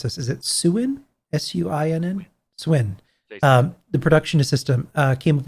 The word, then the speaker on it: Suinn: Yeah, Jason, I'm going to mispronounce this. Is it Suin? Suinn? Swin.